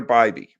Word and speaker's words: Bibee: One thing was they extended Tanner Bbeby and that is how you pronounce his name.